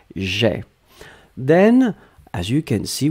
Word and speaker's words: j'ai: So j apostrophe and then ai, you pronounce it e, j'ai.